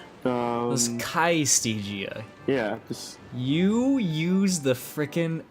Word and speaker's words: Calistigia: C-A-I, that's the L, Y-S-T-E-G-I-A. Again, that's C-A-I-Y-S-T-E-G-I-A. It was Kaistigia.